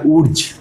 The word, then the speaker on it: Wurtz: এটাকে ইংরেজিতে লিখলে বলা হয় উর্জ, WURTZ, উর্জ রিয়াকশান বা ভার্জ। এখানে উচ্চারণটা বাংলাতে ভার্জ করছি, কিন্তু ইংরেজিতে বলে উর্জ রিয়াকশান।